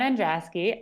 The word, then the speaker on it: Andraski: is a common occurrence to pronounce my last name wrong i'm androski i currently live in denver colorado with my